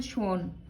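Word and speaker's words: Schwann: ये दो बायोलॉजिस्ट, इसका प्रोनाउंसिएशन थोड़ा डिफरेंट है, शेल्डन एंड श्वान।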